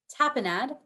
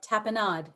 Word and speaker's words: tapenade: spelling please thank you your word has two pronunciations tapenade or tapenade uh first of all